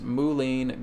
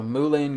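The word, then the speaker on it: mullein: i would recommend you guys work with is moulin garlic oil okay so it's spelled l m-u-l-l-e i n okay moulin garlic oil okay you can find that on amazon it's very very simple to get so mulen garlic oil and you just get this little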